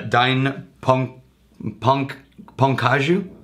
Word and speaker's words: Dai Nippon Kaju: company that I will not even try to pronounce correctly but it's a dine punk punk as you don't join pecans right I'm guessing you're trying